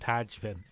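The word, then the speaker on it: Tadhg: M I'm I'm pretty sure that's pronounced Tajin t a d g h Taj Michael spend time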